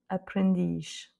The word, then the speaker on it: aprendiz: Et donc, dans les deux cas, de toute façon, l'accent tonique se fait sur la dernière voyelle.